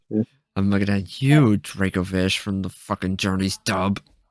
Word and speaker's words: Dracovish: It's from the fossilized drake, not the fossilized dragon. Like, it's Dracovish.